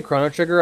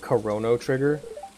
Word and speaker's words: Chrono Trigger: worlds the problem is whenever I say Chrono Trigger I oftentimes add an extra syllable and call it corono trigger and it just drives